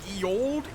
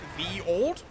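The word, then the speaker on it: ye olde: Uh, the ye old is pronounced the old because they used to use a character called the thorn in old English which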